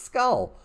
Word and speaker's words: skull: two of its skull you're saying no skell not even a word you is not a man you're saying it wrong it's skull okay one if you